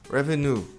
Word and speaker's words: revenue: Revenue. Revenue. A pronúncia correta é revenue. Revenu. E tem muita gente que fala ré. O R em inglês não tem som de ré.